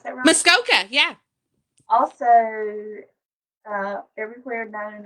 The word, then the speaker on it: Muskoka: have you ever been to muskoka do i pronounce that muskoka yeah also uh everywhere known as the cottage